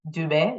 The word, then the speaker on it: Dube: is Dube people often struggle with pronouncing my name is Dube it's easy um I am originally from